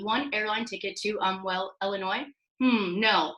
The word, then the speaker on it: Illinois: airline ticket to onwell Illinois no the S is silent New York is looking